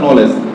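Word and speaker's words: knowledge: কোন ওয়ার্ডে জি আসে তাহলে কি ডি এর উচ্চারণ হয় না যেমন আমরা লিখলাম নলেজ কে এন ও ডবলিউ এল ই ডি জি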